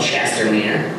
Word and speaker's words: Chestermere: Because I got about an hour and a half away from Red Deer to a place called Chestermere, which is rhymes with Red Deer.